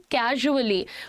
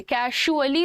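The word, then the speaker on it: casually: में हम कहते हैं कैजुअली। प्रोनाउंसिएशन सुनिएगा, इट इज नॉट कैजुअली, कैजुअली नहीं है ये, कैजुअली भी नहीं है, कैजुअली है। ट्रेजर, प्लेजर, कैजुअली ज है ये, है ना।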